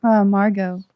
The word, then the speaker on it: Margot: But the T is silent for me.